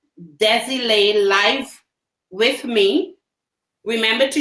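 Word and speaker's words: Désilets: I actually pronounced the T. Ah, yeah. It's a French name. So they often have silent words or silent vowels and consonants.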